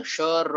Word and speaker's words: श्र: अगर आप इसका उच्चारण श र अ का एक साथ करोगे, एक साथ करोगे तो उसका उच्चार होगा श्र।